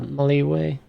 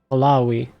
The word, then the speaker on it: Malawi: We've already captured Mali or uh Maliway. How do you say that? Malawi.